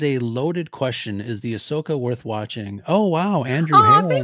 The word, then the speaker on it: Ahsoka: Yeah, it's Ahsoka. Ahsoka. I haven't seen it. I'm going to watch it, I promise. Yeah. Man, that is a loaded question. Is the Ahsoka worth watching?